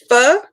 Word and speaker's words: pho: Pho, it's is it Korean? No. Yeah, it's a Korean soup. It's Korean soup. PHO. It's pronounced pho.